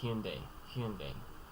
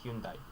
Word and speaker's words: Hyundai: The common anglicized pronunciation is Hyundai. Although it's also acceptable to say Hyundai or Hyundai. In the original it's D-A-E. Actually, that's anglicized. That's A-I. So make of that what you will.